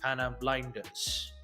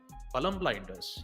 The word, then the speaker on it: Palam Blinders: It will be none other than Tatakai versus Panam Blinders. Sorry, Palam Blinders. Yes, I believe that's how you pronounce it.